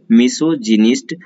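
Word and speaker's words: misogynist: मिसोजिनिस्ट देखिए लिखा हूं यहाँ पे, उच्चारण इसका मिसोजिनिस्ट। दो बार हम पढ़ेंगे, पहली बार में मिसो, बाद में पढ़ दीजिए जिनिस्ट को, मिसोजिनिस्ट। मिसोजिनिस्ट का मतलब आप नारी द्वेषी।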